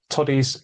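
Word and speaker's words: todies: It's a short O to me.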